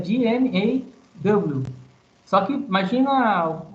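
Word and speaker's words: GMAW: Não é GEMAL. A pronúncia aí é o quê? É G-M-A-W.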